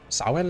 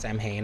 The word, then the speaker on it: Samhain: Like how Halloween was originally like I think a Celtic religion, Samhain or something?